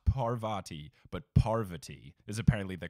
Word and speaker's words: Parvati: but I'm pretty sure for names of Indian descent, you put more of the emphasis on the first syllable.